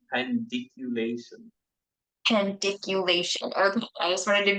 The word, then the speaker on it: pandiculation: so uh how do you how do you pronounce p pation is that right p pation p pandiculation pandiculation okay I just wanted to be sharing that